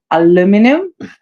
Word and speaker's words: aluminum: the new word I learned in American, the pronunciation, aluminum.